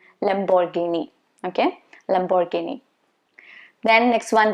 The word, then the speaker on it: Lamborghini: This one is common, and I'm sure most of you already know the correct pronunciation. It's supposed to be Lamborghini. Lamborghini.